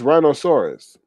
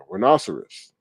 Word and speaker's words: rhinoceros: link and tell you how to pronounce it it's rhinosaurus rhinoceros i don't frequent zoos